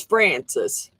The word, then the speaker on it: Frances: It is Francis, and it's spelled Frances, because CIS is a boy's spelling.